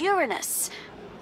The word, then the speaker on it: Uranus: make a joke about Uranus that's funny I don't mean to be approved but please no jokes about Uranus besides the proper pronunciation is Uranus it's a dactal sorry Friday need a